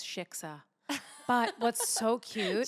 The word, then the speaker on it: shiksa: Shitzvah? Not even close. Shiksa. But what's so cute. Shitska.